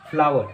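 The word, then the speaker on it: flour: इसकी प्रोनाउंसिएशन है फ्लावर। जी हाँ, फ्लावर।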